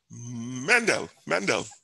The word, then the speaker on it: Mendel: It begins with M. Six letters, and it rhymes with Handel. Dixian, yeah? And his name was not Handel, but Mendel, right?